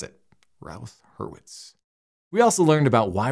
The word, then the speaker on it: Routh-Hurwitz: Hertz Criterion is and hopefully learned how to pronounce it ralth herwitz we also learned about why we need it